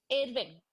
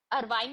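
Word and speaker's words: Irving: इरविंग, इरविंग, अरवाइन नहीं है, इरविंग। अब people pronounce in their way, बट इरविंग, American भी इरविंग ही बोलते हैं, नॉट अरवाइन।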